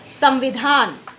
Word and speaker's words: संविधान: माँ ही हुआ है, इसलिए इसका जो उच्चारण होगा वो क्या होगा, माँ ही होगा। मतलब हम क्या पढ़ेंगे अब इसको, संविधान, है ना, संविधान पढ़ते हैं, क्योंकि माँ का परिवर्तन